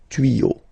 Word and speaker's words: tuyaux: Same rule, you don't pronounce it. Des tuyaux. Okay, un tuyau, des tuyaux. So the only difference will be with the article, because the word will be pronounced the same way.